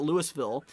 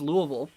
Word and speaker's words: Louisville: see here goblin says i'd love to hear people pronouncing louisville correctly yeah there's a lot of people call it louisville um i'm sure there's probably people in here that call it louisville yeah it's pronounced louisville um but yeah let's